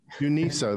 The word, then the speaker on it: UNISA: Is that pronounced? UNISA. UNISA, that's right.